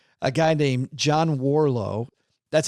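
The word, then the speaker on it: Warrillow: there that I like a guy named John Warlow that's how you pronounce his name if you're spelling it it looks like warillo w-a-r-r-i-l-l-o-w but John Warlow has a whole brand called build to sell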